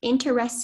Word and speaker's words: interesse: The word is interesse. It's a noun. It's from medieval Latin. It means a legal right, title, or share in property. And the sentence is, Tina retained the interesse in the property from her father's will.